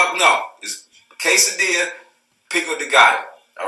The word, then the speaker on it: quesadilla: ] three all right quesadilla not case Adela all right for my Spanish speaking individual my non-spanish speaking I educated uh people on his Spanish Spanish 2 l's when the two elbows are together and his a Spanish word it's like a while so it's quesadilla not